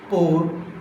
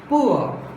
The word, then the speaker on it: poor: So here, pour. Pour is not correct pronunciation of this word. How should we pronounce this word? How should we pronounce this word? Poor.